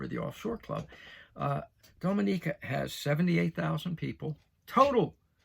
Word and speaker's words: Dominica: right i'll see there dominica dominica i know i said it right because i spelled it out phonetically for myself dominica all right you're